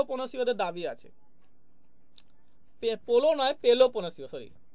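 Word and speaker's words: Peloponnesian: কিন্তু মেগারিও মেগারিও কিন্তু হবে না এটা কিন্তু পোলো পনসিও হবে ঠিক আছে কিন্তু গুলি ফেলো না তাহলে কিন্তু কমেডির উপরে কিন্তু মেগারিও দাবি আছে এবং উপরে কিন্তু কিনা পোলো পোসিওদের দাবি আছে পোলো নয় পেলো পনেসিও সরি উচ্চারণ কিন্তু পেলো পনেসিও করে দেবে পেলো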